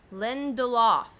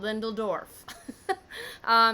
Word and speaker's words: Lindelof: and then Damon Lendl saying his last name wrong Lindelof not Lindell Dorf he is a writer